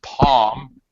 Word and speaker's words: palm: Later down here it says palm. All right. I would consider the L to be silent myself. All right. Oh, okay. That is correct.